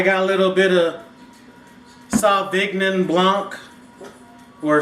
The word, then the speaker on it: Sauvignon Blanc: I got a little bit of Sauvignon Blanc, or Sauvignon Blanc if you want to say it correctly.